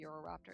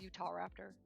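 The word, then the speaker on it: Utahraptor: I just want to call me Euroraptor. It's a Utah raptor. I always pronounce it weird, but it's literally Utah and raptor.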